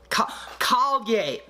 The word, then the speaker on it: Kalye: Said it rhymes with Kanye. Kalye.